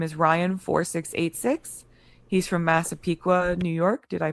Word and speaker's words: Massapequa: He's from Massapequa, New York. Did I pronounce that right?